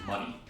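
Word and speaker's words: Munny: uh the explanation is that's how it's said and pronounced in Kingdom Hearts world the currency of the Kingdom Hearts like world like the universal currency it seems like is money m u n n y okay they want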